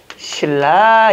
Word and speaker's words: 신라: 그러면 발음은 어떻게 나는 거죠? 아, 신나의 달밤 이럽니까? 아, 경주는 옛날에 이름이 신나야. 이렇게 얘기하면 굉장히 장애죠. 어떻게 발음한다? 신라 이렇게 발음하죠.